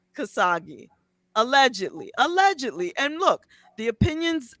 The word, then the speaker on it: Khashoggi: How do you pronounce it? Khashoggi. Khashoggi, K-A-S-H-O-G-G-I. Yes, Khashoggi.